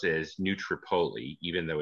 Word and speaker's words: New Tripoli: philadelphia and in a small town that we pronounce as new tripoli even though it's tripoli um but this is